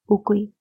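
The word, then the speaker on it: үгүй: Interrogative questions are questions that can be answered with tim or ugui. In spoken Mongolian, we usually say tin, tin, and ugui is pronounced ugu, ugu.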